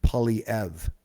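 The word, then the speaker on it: Poilievre: half hour podcast tonight on pierre pauliev apparently is the way he pronounced his name um but we'll see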